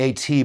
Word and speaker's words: AT: It's it's called the AT, but people pronounce it at because it's the at sign.